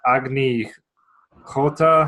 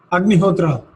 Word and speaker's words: Agnihotra: The Agni Hota? How do you say it? Agnihotra.